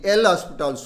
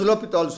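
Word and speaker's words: L'Hôpital: rule the so-called L hospitals rule repeatedly the L hospitals rule Please spell it as l'hopital's rule now limit X tends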